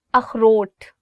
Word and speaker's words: اخروٹ: اخروٹ. So this word khe, it also comes from your, I would say like throat. So you'll really have to do is like اخروٹ.